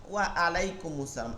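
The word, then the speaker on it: وعليكم السلام: আবার উত্তরের সময় বলতেছেন ওয়া, ঠোঁটটা গোল করে, ওয়া আলাই, ওয়া আ, ওয়া আলাইকুম আসসালাম। আলাইকুম হামজা দিয়ে তো উচ্চারণের অর্থ হইল না, হবে কি আইন থেকে,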